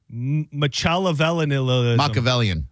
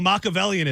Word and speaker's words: Machiavellianism: Machiavellianism. Oh, Machiavellianism.